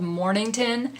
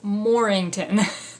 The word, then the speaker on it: Mornington: Mornington cross Mornington cross I always get this name wrong we have a street in town that's called Mornington and so every time I see this that's what comes out of my mind but it's morington okay so this one